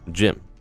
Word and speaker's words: Jim: Jim. The T is silent. So it's like to Jim.